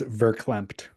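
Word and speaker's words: verklempt: For the record, it's verclempt. V E R.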